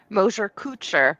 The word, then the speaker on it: Mosher-Kuczer: Mosher-Kuczer, but everyone does.